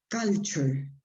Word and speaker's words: culture: Be careful with the pronunciation of this word. I will try to write the sounds. Culture. Okay. Let me write the stress. Not exactly, I mean, this is not the best way to write it, but it's closer to pronunciation. Culture. Okay, culture. Okay.